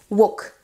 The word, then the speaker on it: walk: frire les légumes wok ne soyez pas tenté de rajouter un petit l parce qu'il est écrit on ne le prononce pas du tout walk juste donc un petit